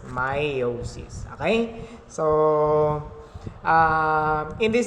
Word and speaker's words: meiosis: go on by purpose meiosis okay so it's pronounced as meiosis meiosis okay so uh in this discussion the main